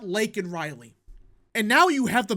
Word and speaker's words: Laken Riley: He said Lincoln Riley, you know, the USC head coach for football. He said Lincoln Riley and not Laken Riley.